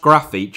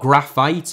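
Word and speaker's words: Grafite: and uh just to clarify his name is pronounced graphite in Brazilian Portuguese not graphite or graffite before anyone says it in the comments like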